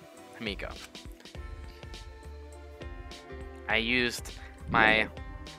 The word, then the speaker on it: Himiko: Himioko? Himiko. I used my syllables.